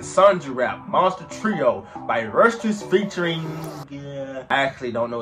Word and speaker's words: Rustage: Dear Rustage, yes, it's pronounced Rustage.